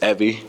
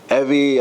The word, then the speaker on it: Evy: with me today Miss Evie stto rhymes with Chevy Evie uh and I met